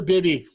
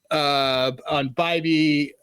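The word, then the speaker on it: Bibee: For Tanner Bibby. Bibby. Under 1.5. Close enough, whatever the hell. Bibby. Not close enough, actually. The completely wrong side of the emphasis on syllables.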